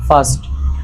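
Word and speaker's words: first: ভুল এফই আর এসটি ফারস্ট না ফাস্ট আমরা আরকে উচ্চারণ করবো না যদি সেই আর এর পরে একটা ভয়েল থাকে এবং ওয়ার্ডের মধ্যখানে লাস্টে সমস্যা নেই একটি কাক তৃষ্ণা পেয়েছিল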